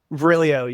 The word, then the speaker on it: Virilio: Is that how you pronounce his name? Virilio? Virilio, yeah.